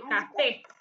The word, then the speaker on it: café: Coffee en español es el café, con acento en la E.